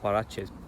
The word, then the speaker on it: Huaraches: And it's, the name actually comes from, I think it's Huaraches. So the correct pronunciation came from a style of shoe that